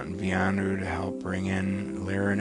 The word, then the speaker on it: Vianu: And Vianu, which I think is V-I''ANU, Vianu.